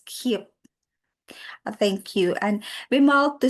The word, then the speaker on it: Keap: Thank you, Bimal, and I stand corrected. That pronounced as keep.